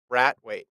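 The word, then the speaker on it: Brathwaite: The name is pronounced Bratwaite. Bratwaite.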